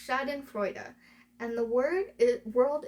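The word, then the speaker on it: Schadenfreude: It is pronounced shaden frea and the word is world is full of it these days.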